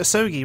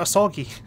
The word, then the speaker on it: Asogi: Sorry, I know I'm also Japanese, but my English accent trumps my Japanese accent, so I'll pronounce him Mr. Osogi rather than Mr. Asogi.